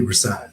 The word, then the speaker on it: Rahsaan: Am I pronouncing that right? Yeah, absolutely. Rasan.